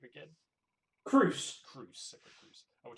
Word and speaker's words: Crous: Matt, how do you actually pronounce the name again? Crous.